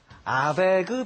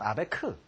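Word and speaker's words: Abegg: 작곡했던 음악들을 한번 들어보겠습니다 아베그 변주곡 혹은 우리가 아베크 변주곡이 얘기합니다 아베그 변주곡 이게 뭘까요 아베그 이걸 보면 A라는 말로 돼 있습니다 aeg 아베그 독일식 발음은 아베크 여러분 도레미파솔라 시도는 다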